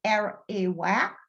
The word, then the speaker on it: Arawak: The Arawak, pronounced as Arawak, are the indigenous people distributed throughout the Caribbean islands and South America, including Guyana.